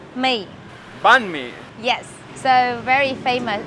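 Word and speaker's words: bánh mì: BME how do you say it B me banme yes so very famous it's a typical breakfast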